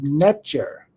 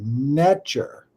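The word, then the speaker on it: netjer: that and it's uh the pronunciation is natur n TJ NE T J R natur and this is the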